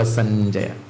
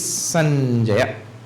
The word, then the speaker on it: संजय: Sanjay is a very common name. Not Sanjay. Sanjay. We have deviated so far from it. Such a wonderful pronunciation of names in Sanskrit. Samyak Jayate. It is Sanjaya. Sanjaya.